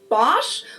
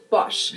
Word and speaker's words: Bosch: Americans usually say Bosch, while Germans say Bosch. So, the vowel is pronounced just a little bit differently here.